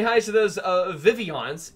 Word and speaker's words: Vivillon: say hi to those vivillon's it's vivillon not vivillon oh I well no